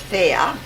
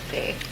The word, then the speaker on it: Faye: In Russian it's Fea, and in English it's Faye. Faye. As in fairy? Yes, Fea is a fairy in Russian, yes.